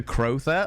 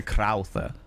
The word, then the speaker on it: Crowther: Master, is it Master Crother or Master Crowther? Cuz I know that um Crowley was very particular about their name being pronounced. You know, the first one, Croet.